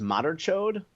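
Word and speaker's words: madarchod: then c h o d e which is pronounced Moder chod uh that is someone who who has love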